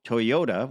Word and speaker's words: Toyoda: This is Akio Toyoda, which is spelled Toyoda, the actual spelling of the name.